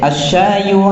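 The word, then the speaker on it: الشاي: Jadi asyayu. Nah, asyayu. Nah, kemudian selanjutnya setelah syayu itu apa? Harun. Nah, itu bagus sekali bacanya, itu bagus.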